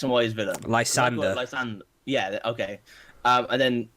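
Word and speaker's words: Lysandre: And how do you pronounce X and Y's villain? Lysander.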